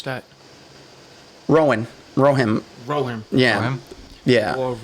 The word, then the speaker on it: Rohan: How would you pronounce that? Rohan. Yeah. Rohan? Yeah. War of Rowan.